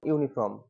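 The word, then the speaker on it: uniform: কি বসাবা এ বসাবা যেমন ইউনিফর্ম ইউনিফর্ম এফ ও আর এম ইউনিফর্ম তারপরে ইউনিট তারপরে ইউনিট হ্যাঁ এগুলো সব কিন্তু এখানে এ বসবে দেখো এগুলো কিন্তু সব ইউ এর মত উচ্চারণ আসছে এবার আমব্রেলা বললে কিন্তু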